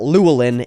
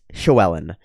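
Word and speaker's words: Llywelyn: problem with just saying showellen Joellen Joellen it's not luolin it's shuellen and I know that because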